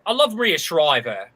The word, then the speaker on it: Shriver: Shriver. That's what I said. You said Schreiber with a B. You put a B in there.